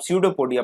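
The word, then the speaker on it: pseudopodia: पी यहाँ silent होता है तो इसको आप स्यूडोपोडिया पढ़ते हैं।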